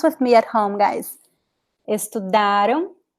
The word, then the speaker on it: estudaram: And here the stress is ra. Tiraram. The end is very weak. The am sound is very weak because it's not important, it's not stressed. Estudaram. It's very weak.